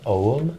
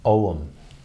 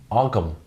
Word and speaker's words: ogham: heard me repeatedly saying om throughout this show I almost say it like the word home but without the H om uh the reason